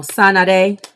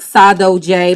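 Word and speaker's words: saudade: okay your person is oh no sanade i was saying it wrong the last time the card of 21. um and that came up one other time it's pronounced in the book saddo j but i said it wrong i had this whole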